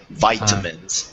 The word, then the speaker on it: vitamins: yes and and uh with muscle the C is silent muscles muscles muscles okay muscles and then it's vitamins with a long eye vitamins vitamins vitamins good yeah vitamins for the muscle